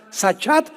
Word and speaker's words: sachat: es importante porque la palabra hebrea sachat se escribe con s Samuel y ch como suena sachat conté de ti al final y esta palabra